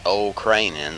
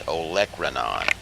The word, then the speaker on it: olecranon: infraspinous fossa olecranon fossa it's not old craning like it's spelled but it's olecranon prominence scaphoid triquetra l'